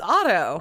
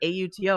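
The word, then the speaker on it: Otto: It's auto. What? I think if you're British, it's like auto, Auto.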